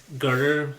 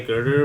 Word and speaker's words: Goethe: Well, it's like so- it's spelled Goethe, but I've heard people say Girder, but it might be Goth. I don't know. I'm pretty sure it's Girder, but he basically wrote